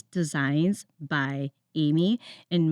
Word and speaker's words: Aemi: So, it's Designs by Amy, and my name is spelled a little funky, but it's a EMI.